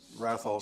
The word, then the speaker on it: Wrathol: Wrathol spelled like the wrath of God.